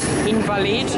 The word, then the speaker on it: Invalides: Invalides, or actually pronounced Invalides.